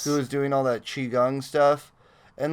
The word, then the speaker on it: Qigong: we love it sparkle you're probably reading it with the Q but yeah it's Qigong and it's uh it's